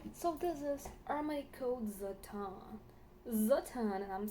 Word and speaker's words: Satin: So this is Armani Code Zatan. Zatan, and I'm saying it's like in Jeremy Fragrance kind of style because, I'm not gonna call it Satan. And it's not Satan. It's satin.